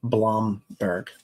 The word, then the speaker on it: Blomberg: So, and it's pronounced Blomberg, by the way, my friend.